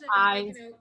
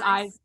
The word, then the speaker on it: Eise: Eise, sorry, I'm pronouncing that wrong. It's Eise. It's Eise. Yeah, but it's okay. Everybody mispronounces it.